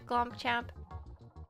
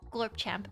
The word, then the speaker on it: Gorp Champ: But bye, Glump Champ. It is pronounced Gorp Champ.